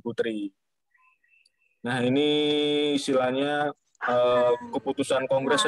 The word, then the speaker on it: poetri: Nah, itu tulisannya masih zaman dulu ya, masih ada ejaan O ya, kami poetra dan poetri. Dibacanya itu kami putra dan putri.